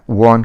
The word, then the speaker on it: Juan: That is his name, JUAN, वॉन कहते हैं इसको, इसमें इनका जो वो होता है प्रोनाउंसिएशन.